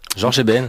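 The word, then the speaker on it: Jorge Ben: Alors George Eben, je le prononce sans doute très mal. George Bench. Georges Eben, simplement.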